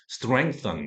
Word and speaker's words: strength: 발음 해보겠습니다 str 그죠 str th 발음 명확하게 해주셔야 되죠 그죠 str R 바요 그죠 r l 뭐 정확하게 분하 됩니다 스이 아니고 str 이때는 그 우와 같다 할 때를 연상하시면 됩니다 strength str 이렇게 발음해 주시면